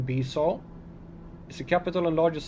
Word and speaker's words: Bissau: Bissau, Portuguese pronunciation Bissau, is the capital and